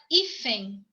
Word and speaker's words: hífen: Palavra hífen, tá? Hífen, fem. Ela termina em EN.